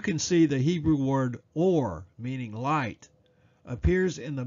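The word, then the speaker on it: אור: to discuss is Strong's number 216 which is pronounced or and has the principal meaning of light or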